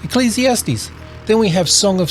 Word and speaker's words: Ecclesiastes: for now I just want to go through pronouncing them we have Joe Psalms with the silent P Proverbs here's a tricky one Ecclesiastes Ecclesiastes Ecclesiastes then we have Song of Solomon or it